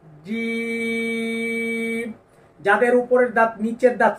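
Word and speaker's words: ج: উপরের তালুর সঙ্গে লাগিয়ে উপরের দাঁত নিচের দাঁত যেন লেগে না যায় জিম এরকম যেন না হয় তাহলে অন্য একটি হরফের উচ্চারণ হয়ে যাবে জিম যাদের উপরের দাঁত নিচের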